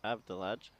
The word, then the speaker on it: Abdullah: the chat has said it's pronounced Abdullah Abdullah okay head for like there